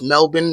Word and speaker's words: Melbourne: If you ask any Australian, it's Melbourne, not Melbourne, even though that's how it's spelled.